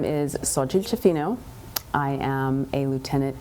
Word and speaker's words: Xochitl: Phonetically, it's gonna sound like so, S-O, and then chil, like C-H-E-E-L. I wanna help you with this. Xochitl. Xochitl.